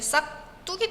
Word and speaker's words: 싹둑: 우리 발음할 때 정말 자연스럽게 싹 뚝이 됩니다. 싹뚝.